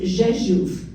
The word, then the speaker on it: Rzeszów: The red box, even though it's spelt as it is pronounced Rzeszów.